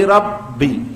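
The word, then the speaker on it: رب: Alhamdulillahi rabbi. Hibbi, ada shaddah pada huruf ba, jangan terburu-buru .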